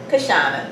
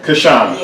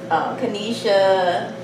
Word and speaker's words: Kashana: Can we hear you say it? Kashana. Kashana. Yeah. Okay. Now, was your name ever mispronounced during your childhood? Well, all the time. All the time. Yes, what have you gotten? Kanisha, Kashawa, Keisha.